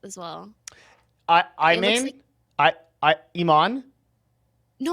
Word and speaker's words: Imane: would okay i know in english the easiest way to pronounce it is iman but the way that i like it the most is like in french which is like Iman that's too hard for